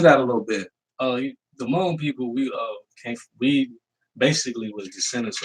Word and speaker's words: Hmong: And I try to tell Black people all the time, it ain't Hmong, it's Hmong, the H is silent.